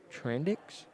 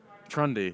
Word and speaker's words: Trundy: Little push in the back from Darren Trandix? Darren Trandix, I think. Is that how you pronounce it? Trundy. That's Trundy.